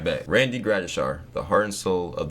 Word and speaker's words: Gradishar: Is it Gratishar or Shar? Share or shar Grades or Gratishar? Shar. Is it Shar? Am I saying it right? Like SH. All right, bet. Randy Gratishar.